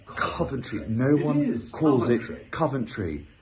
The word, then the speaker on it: Coventry: sale now for my first ever show in Coventry I cannot wait to see you all there